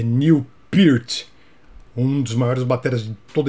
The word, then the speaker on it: Neil Peart: muito lynard skynard e o nome desse baterista aqui minha vida inteira eu falei millport acho que a maioria dos brasileiros também falava Newport depois do seu falecimento muitas entrevistas vieram à tona a gente descobriu a verdadeira pronúncia do nome é Neil peart um dos maiores bater